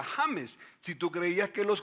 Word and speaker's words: James: después en español james ahora james es un nombre en español legítimo y se pronuncia james si tú creías que